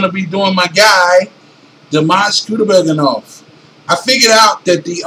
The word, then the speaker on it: Dimash Kudaibergen: So, his name is pronounced Dimash Kudaibergen. If you were to be speaking it in English, you know, with a Russian accent, Kudaibergen.